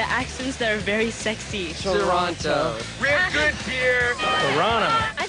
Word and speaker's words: Toronto: Toronto, A. Toronto. But no one says the two. They'll say it wrong. They'll say Toronto. Not Toronto. Not Toronto. Oh, Toronto.